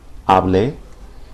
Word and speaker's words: hable: So with hablar, the subjunctive form is going to be hable, yo hable, tú hables. It's important not to emphasize the final syllable when you pronounce these, because it's the second to last syllable that's emphasized usually.